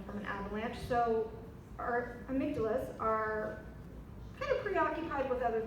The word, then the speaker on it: amygdala: anybody know what the amygdala is sometimes people pronounce it I Magdala same difference it's basically it's right